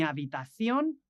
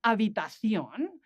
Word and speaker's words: habitación: The next word, habitación, we have that word spelled with an H that doesn't really sound because the H is soundless.